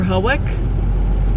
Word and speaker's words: Hawick: We're headed to either Hawick or Hawick.